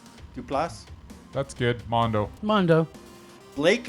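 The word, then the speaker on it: Duplass: Mark Dupla. Duplas.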